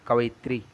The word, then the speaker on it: कवयित्री: कवि का स्त्रीलिंग कवयित्री, कवित्री कैसे लिखा जाता है? कवित्री। अब इसको बहुत तरह से गलत गलत लिखते हैं, तो यही सही उच्चारण है इसका, कवित्री कवित्री कवित्री।